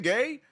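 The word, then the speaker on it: Gueye: Gay. draws the foul. Hard back to the line. Knicks steal the lead back. Now it's nine to eight. It is gay. It is pronounced gay.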